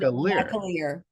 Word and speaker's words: McAlear: the correct pronunciation is think of a Mac Truck and a Lear Jet and Ma Maier that's it and it's